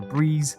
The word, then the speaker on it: Brez: if you do want to pick up a breeze or a breeze as it's actually pronounced then check out their website and go